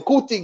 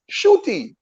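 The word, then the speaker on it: Ncuti: I was calling him Nkuti Gatwa. And Nkuti is from Kigali. He was born in Kigali, Rwanda. It is pronounced Shuti. So it is not Nkuti.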